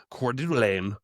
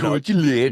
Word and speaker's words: Coeur d'Alene: it to make it this is the correct pronunciation of things. Yeah. You know, instead of Coeur d'Alene, Mhm. Coeur d'Alene. Yeah, yeah, yeah. it's Coeur d'Alene.